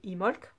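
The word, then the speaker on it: Imbolc: ce que l'oracle dimbulk ou comme dit imolk en réalité peut donner le B ne se prononce pas pour les semaines à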